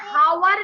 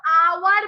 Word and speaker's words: hour: HOUR हावर नहीं बोलते हैं हम लोग, HOUR आवर बोलते हैं।